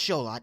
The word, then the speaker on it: Xolotl: butler whipping boy it's show lot it's show lot spoil alert for chapters 5 6 7 9 and 10 and before you ask yes that is how sholot's name is pronounced i know we're doing